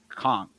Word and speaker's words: conch: And she says conch. It's pronounced conch.